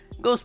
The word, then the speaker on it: Goh: Go's password in his phone, by the way, is 5555 because the Japanese number 5 is literally pronounced Go.